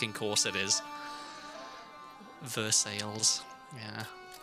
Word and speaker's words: Versailles: And she said, "Well, no, it's pronounced Versailles cuz cuz of course it is." Versailles.